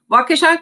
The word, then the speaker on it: Waukesha: waukesha county technical college waukesha can be a weird word to pronounce but it comes from a native american word meaning fox an easy way to remember it is to think about kesha and put wa in front of it so or you can